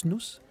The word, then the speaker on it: snus: c'est quoi du snoos ça s'écrit snus mais ça se prononce snoos et bien c'est de